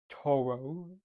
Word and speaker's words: Toro: Most people would think I'm saying it in the uh the Japanese name to or to. But no, I'm supposed to be saying it as Toro.